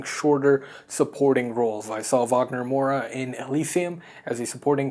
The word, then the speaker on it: Wagner Moura: to capture Pablo Escobar, played by the incredibly magnificent and transcendent Wagner Moura, or Wagner Moura as he pronounces it, a Brazilian man.